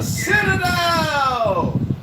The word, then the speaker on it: Citadel: The Citadel.